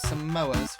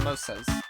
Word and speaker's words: samosa: Those samoas were delicious. Sam samosas. Samosas. I've been pronouncing it wrong this whole time.